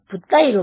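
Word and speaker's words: 布袋: 아마도 포대하상을 중국어로는 붓다이로 발음하는데 붓다와 발음이 비슷한 데다가 불교 성리기까지 해서 이런 명칭을 붙인 것으로 보입니다.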